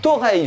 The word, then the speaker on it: Torreilles: Le groupe Tentation qui vient de Toreil, je crois que ça se prononce comme ça, du côté de Perpignan, vient de sortir Le Berceau des Dieux.